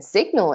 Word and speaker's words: signal: but not always right so in sign that G is not being pronounced in design that G is not being pronounced but in signal it sure is and in resignation it